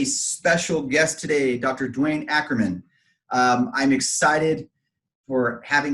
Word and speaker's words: Ackerman: guest today dr dwayne akerman did i say it right no ackerman i'm gonna stop down